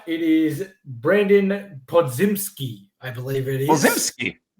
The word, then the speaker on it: Podziemski: I need to get the pronunciation right. It is Brandon Podziemski, I believe it is. Podziemski, yeah.